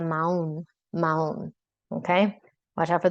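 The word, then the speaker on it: mahón: M-A-H-O-N. M-A-H-O-N. That is not pronounced mahon. You are dangerously close to the word mojon, which means a turd. So do not pronounce that H. It's a maun.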